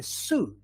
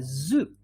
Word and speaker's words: zoo: make a distinction with so they say i went to the su for example yeah when it should be i went to the zoo yeah or they say